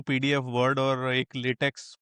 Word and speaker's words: LaTeX: सो जो क्वेश्चन उन्होंने पूछा था कि which is the right one, या फिर जो लेटेक्स है, basically it's नॉट लेटेक्स, इट is pronounce as लेटेक.